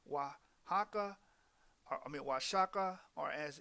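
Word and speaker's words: Oaxaca: as I mentioned before the O and the Spanish cicis represent the W sound so the word Osaka should be pronounced wahaka I mean wasaka are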